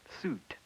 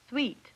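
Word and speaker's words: suite: For example, Suit. No, sweet. It's a French word.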